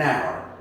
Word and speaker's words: hour: But there is no sound on this one right here. Okay? So, an hour. We don't go with the way we write, but with the way we pronounce.